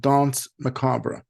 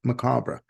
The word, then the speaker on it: Danse Macabre: glare the latest release from Duran Duran called Don macabra yes it is pronounced macabra this is the band's 16th release through BMG